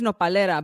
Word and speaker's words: Nopalera: So do you pronounce the brand as Nopal or it's Nopalera? So the brand is Nopalera, but the plant is nopal, and which is